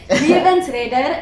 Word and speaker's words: Levensredder: name proper, so I would like you to pronounce it for me. So my most recent single, it's called Levensredder. You can do it. Radar. Yeah, well done. You can do it. Levensredder, it means lifesaver or lifeguard.